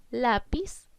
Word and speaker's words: lápiz: Lápiz es una palabra grave que lleva tilde porque termina en Z.